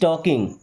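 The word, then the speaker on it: talking: फिलहाल अगला सेंटेंस है हमारा ही इज टॉकिंग। दोस्तों, ही मी्स होता है वह। इज मींस है टॉकिंग। एल साइलेंट है ना?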